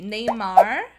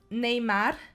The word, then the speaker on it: Neymar: I want to talk about these two guys because their name could be pronounced differently in 3 different ways depending on where you are in Brazil. Some people are gonna say Neymar and Marcelo.